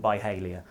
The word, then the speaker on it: Byhalia: in this small town called byhalia it rhymes with failure and and we were